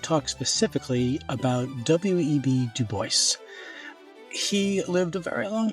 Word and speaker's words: Du Bois: So, let's talk about web Duboce. And by the way, I'm not mispronouncing it. It's not Dubois. He pronounced it duboce like like voice like I with my voice I am pronouncing Duboce.